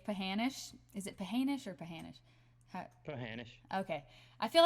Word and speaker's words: Pahanish: Is it Pahanish or Pahanish?